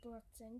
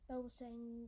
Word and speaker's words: Boateng: Then we have Jermaine Boateng, I pronounce his name as Boateng, some people call him Boateng or Boateng, I've heard some people say.